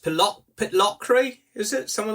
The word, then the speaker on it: Pitlochry: I think it's pronounced Pitlochry, is it?